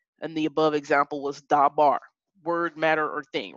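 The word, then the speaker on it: דבר: just drew out and the above example was da bar word matter or thing right and so the first syllable da the dollar in the comments is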